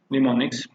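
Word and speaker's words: mnemonics: उतनी जिनमें निमोनिक्स कहते हैं इसमें हम सफेद साइलेंट है तो इसको निमोनिक्स पड़ते हैं कि इस सिर्फ मशीन लैंग्वेज जैसी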